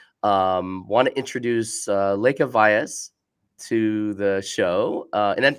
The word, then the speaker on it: Lekha Vyas: the industry so um want to introduce uh Lea Vias to the show uh and did I pronounce that correctly you actually got it right